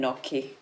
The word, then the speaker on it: Nocchi: but it's become uh angiz and so I pronounce it moer moer and then and then and then noi yeah moer noi awesome we're so excited to